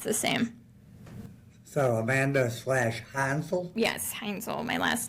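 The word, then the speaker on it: Heinzel: Hansel. My last name. It's German. How? Spell it for me. It's h e i n z. Like owl. So it's like hines ketchup with an L.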